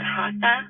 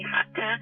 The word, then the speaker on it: Hatha: main moves yeah um most people pronounce it hasta but it's actually hata and it just it